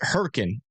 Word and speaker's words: Hurricane: Where's Herkin again? Was that Was that in West Virginia? Where is that town? Yeah. Perk. It's It's spelled hurricane, but they pronounce it Herkin.